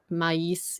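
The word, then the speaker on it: maïs: So from Thoughtful Luxury, is the S pronounced in mais? Yes. It's one of those things that you Mais. have to know. Yeah. Mais means corn. And Mm. you just have to know that you do pronounce the S in this instance.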